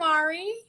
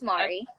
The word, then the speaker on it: Mari: please yay hi I'm Ari am I am i pronouncing your name right that's yeah it's Mari oh how are you